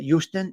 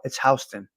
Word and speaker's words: Houston: It's spelled Houston. So out of towners call it Houston. It's Houston.